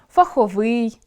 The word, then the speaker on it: фаховий: Опрацьовуючи цей ресурс, ми можемо зауважити, що, наприклад, акцентуаційною нормою є чорнОслив, новИй, фаховИй. Будь-яке інше наголошування буде порушенням (анормемою).